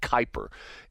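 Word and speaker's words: Kuiper: It's spelled K UI P R and they pronounce it Kyper.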